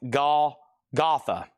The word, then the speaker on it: Golgotha: It's pronounced Golgotha. Thank you. Yes, the place where Jesus Christ was crucified. Golgotha.